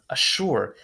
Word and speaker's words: assure: Assure. Now it looks like azure, but it's actually pronounced assure.